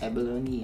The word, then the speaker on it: abalone: Lery: Give you abalone Brenda: Thank you very much Lery: It's 'a·buh·low·nee' ah, not 'eh·buh·lawn' Brenda: It's 'eh·buh·lawn'.